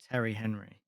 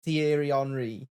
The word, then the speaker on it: Thierry Henry: Oh, Sure, he said Terry Henry. yeah. Yeah, he did. Terry Henry. I am aware that it's Thierry Henry, okay?